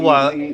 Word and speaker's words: Benoit: And when we asked him point blank, how do you pronounce it? It's Benoit.